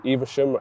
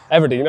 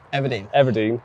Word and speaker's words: Everdeen: Like this venue, it's a fairly new venue, Eversham, I'm not sure how you want to pronounce it. Everdeen. I got it completely wrong. Everdeen, and just outside of Bridgewater, really.